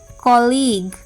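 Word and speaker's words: colleague: O double L ई ए जी यू ई कॉलीग सी आई आर सी यू आई T circuit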